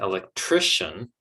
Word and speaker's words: electrician: Same with electrician, okay, we're getting the stress there.